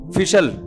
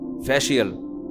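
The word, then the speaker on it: facial: एक लफ्ज है बहुत मशहूर लफ्ज है, फिशल, फिशल, फिशल, फैशल, अबे सही प्रोनाउंसिएशन बुलवाया करो, फिशल ना, फैशल, ये अमेरिका से आए ये सही बताएंगे जी, फैशियल, ये अमेरिका से आए भाई, जो जो माहिर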